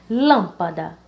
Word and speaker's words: lâmpada: Então, vamos começar do final, né? Da, pa, lã. Então, a mais forte seria lã, sendo a primeira sílaba dessa palavra. Lâmpada, lâmpada. Então, lâmpada, a sílaba lã, ela é proparoxítona.